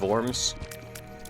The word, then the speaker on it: Worms: City's pronounced Worms. Worms. Worms.